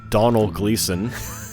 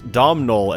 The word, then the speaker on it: Donald Gleason: our listener Cueva for correcting our pronunciation of Donald Gleason that's the first order of business here I have a screenshot of her message saved in my notes not domnol as we called him throughout for two